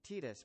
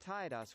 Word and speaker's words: Tidus: I acknowledge that Square Enix says it's pronoun Titus, but I reject that. It's pronounced Tidus.